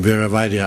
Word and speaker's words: Viravada: etc etc but nowadays when people can't pronounce my name viravada I say let's think of Vera Viagra and then never forget and they never forget